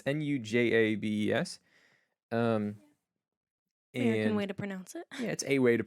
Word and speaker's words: Nujabes: It's Nujabes. Um, American and way to pronounce it.